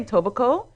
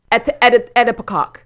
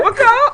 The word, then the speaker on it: Etobicoke: He tried to say Etobicoke, but he was like, Etobicoke. Edipicoke.